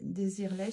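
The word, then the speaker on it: Desireless: En français, on dit des désirlè. Je crois qu'on dit ça à la prononciation à la française.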